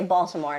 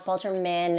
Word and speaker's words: Balterman: And so many people say Baltimore. And I'm like, no, it's Balterman.